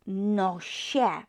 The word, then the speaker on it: nosie: Nos becomes nosie, Remember, don't pronounce it sie. It's not J here, it's I, which makes it she.